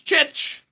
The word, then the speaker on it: Chich: And in goal, it's the name that can drive you crazy if you don't know how to say it, but we checked with them. It's Chich in goal, which is one of my new favorite names to say.